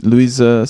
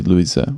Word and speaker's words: Luisa: Normally, I used to say Luis, which is more English, I guess. And Wolfgang just told me that I should say Luisa, which is very similar to the Portuguese pronunciation, which is Luisa.